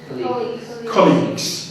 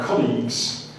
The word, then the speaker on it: colleagues: this one here how did you say this colleages yes so pronunciation would be it's difficult to do this because this board joins my R together but this is an an on so colleagues now colleagues is good because you can use